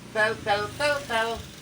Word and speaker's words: tel: Tel. Cara bacanya sama seperti kel.